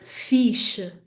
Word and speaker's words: fixe: But in Portuguese, we close it down. If I was to say that's cool, I would say que fixe, que fixe. So hopefully you can hear that those two E's at the end of que and fiche, they happen in my throat.